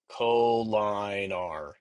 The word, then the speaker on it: collinear: Collinear. We pronounce it collinear.